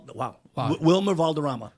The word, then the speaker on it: Valderrama: Wilmer Valderrama. How do you pronounce it with the Spanish accent? Valderrama.